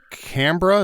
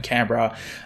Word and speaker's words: Canberra: Going to Canberra. Is that how you pronounce it? Canberra. Oh, okay, so it's going to be cold as well. Okay, going to Canberra because that's where my wife was born, so